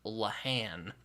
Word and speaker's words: Lehane: He's like, it's actually pronounced Lehane, and I'm like, Yeah, he says Lehane, all right, get out of here.